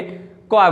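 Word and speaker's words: choir: क्वाय बोलेंगे। क्या बोलेंगे? क्वाय बोलेंगे। इसका प्रोनाउंसिएशन क्या होता है?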